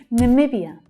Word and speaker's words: Namibia: Namibia, Namibia. Can you hear that second syllable is the stressed one?